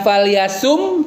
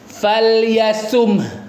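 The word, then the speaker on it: فَلْيَصُمْهُ: Jangan hilangkan huruf H-nya. Falyasum. Nah, tipsnya biar biar H-nya ada adalah ya ee huruf shadnya agak dihentak suaranya ya. Karena kalau falasum nanti eh-nya tuh malas gitu. Jadi falyasum beda enggak? Sumh ada. Ingat huruf terakhirnya bukan mim tapi ha.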